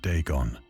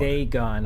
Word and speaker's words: Dagon: ancient Philistine legend of Deeon, the fish god. Deegon. I've been saying it wrong.